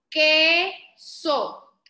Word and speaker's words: queso: Queso, queso. Esta palabra contiene la sílaba ki. No, no, tiene la E, así que se dice que.